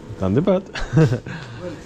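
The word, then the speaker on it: धन्यवाद: Dhanyabad. Thank you. Dhanyabad? Dhanyabad, yes. Dhanyabad.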